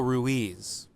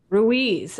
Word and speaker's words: Ruiz: how to say his name ruiz don miguel ruiz ruiz okay so have you read this book i